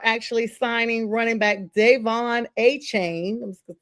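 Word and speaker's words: Achane: start talking about looks like, and let me pronounce his name. I know he said it's Etienne. His brother is now with the Saints. The Dolphins are actually signing running back Davon A-Chain, I'm just going to say A-Chain, to a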